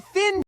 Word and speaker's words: thin: I said thin soup, not tin soup. Can your pronunciation change meaning? Yes. Yes. For th your tongue gently comes between your teeth. Push air out slowly. No voice, only air. Think.